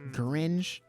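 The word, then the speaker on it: Gurenge: Demon Slayer opening I think it's gringe is how you pronounce it and it was it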